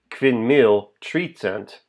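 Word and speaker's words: kvin mil tricent: than 5,300 in Esperanto it's not correct to do that you'd be saying pin deck tree cent 5300 not correct four syllables but to say it correctly in Esperanto pin meal treat cent he is correct and still only uses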